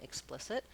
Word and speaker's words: explicit: of different pronunciations so the letters e x can say the ick sound like in explicit with the voiceless k and the lex sound